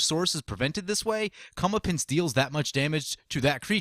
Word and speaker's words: Comeuppance: Comeuppance, I believe it's pronounced.